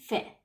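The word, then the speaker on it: fée: Now, we cannot pronounce it as fee. We pronounce it as fe.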